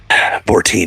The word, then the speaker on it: Bourdain: I prefer Tony Bourdain, you know. Or Bourdain. Maybe I'm saying it wrong. Yeah, something like that. Bortine. Bortine. Yeah, that's it.